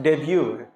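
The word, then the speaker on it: debut: क्या पढ़ा जाएगा इस गलती से भी डिव डिब नहीं करना भाई लोग डेब्यू डेब्यू जैसे पहला मैच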